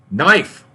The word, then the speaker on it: knife: The K in knife is silent. Knife.